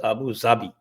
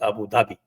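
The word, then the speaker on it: أبو ظبي: जैसे आबू जाबी, उर्दू में इट is pronounced as आबू जाबी, but otherwise everybody says it is Abu Dhabi. Dhabi. The script is the same, the letter is the same, ज़्वाद से ही वो आता है, लेकिन उसका प्रोनाउंसिएशन वहाँ जाके अबू धाबी हो जाता है और यहाँ अबू ज़ाबी होता है।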